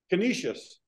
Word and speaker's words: Canisius: Canisius.